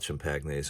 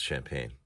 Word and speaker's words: champagne: pagnes and sparkling wines oh it's not chimp pagnes I'm sorry it's champagne sorry uh yeah I